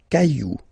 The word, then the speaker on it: cailloux: Okay, then un caillou, plural, des cailloux. Okay, remember, you don't pronounce it, the final X.